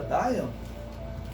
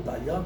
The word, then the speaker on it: Dayan: Essa família Dayan, ou Dayan, como alguns pronunciam, eles se dizem descendentes de Davi.